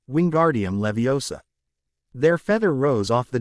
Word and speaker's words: Wingardium Leviosa: arms like a windmill you're saying it wrong Harry heard her may snap its wing gar DM Levi o saw make the gar nice and long you do it then